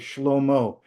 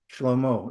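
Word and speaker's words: שלמה: So anyway, so the Hebrew for Solomon is Schlommo. Comes from shalom, peace.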